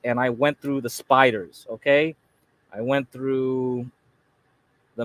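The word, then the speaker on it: SPDR: these are called the spiders SP PDR they just pronounce it spiders don't ask me why but these are the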